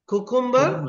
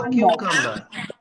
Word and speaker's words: cucumber: But most of the people say cucumber. பெரும்பாலான ஆட்கள் என்னன்னு சொல்றது? குக்கும்பர்ன்னு சொல்றது. ஆனா குக்கும்பர்ன்ற ஒரு வேர்ட் இல்ல. அப்ப ஆங்கிலத்துல கியூகம்பர்ன்னு சொல்லுவோம். சரியா?